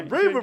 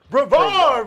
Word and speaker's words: Brevard: Brever versus Madden. Boy, I was looking at Madden. Brever versus Madden. Brevard versus Madden.